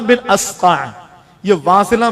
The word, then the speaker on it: واصلہ: مشورہ۔ حضرت جناب سیدنا واصلہ بن اسقع، یہ واصلہ، میں اس کی پروننسیشن بھی بتاؤں اور تلفظ بھی کروں، واو الف سا لام ہا، واصلہ، یہ حضور کے صحابی ہیں۔